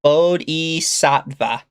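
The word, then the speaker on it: bodhisattva: Toa says it's pronounced Bodhi Sattva.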